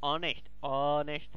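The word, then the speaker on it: honest: Always an অনেস্ট ম্যান, AEIOU অনেস্ট ম্যান, অ্যান অনেস্ট একটা হনেস্ট কথার মতো উচ্চারণ হচ্ছে, তাই অ্যান হলো, এটা ভাওয়েলের নিয়ম ছোটবেলার।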